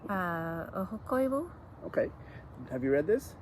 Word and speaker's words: Ahokoivu: Oksi by Mary, how would you pronounce her name? Ahokoivu.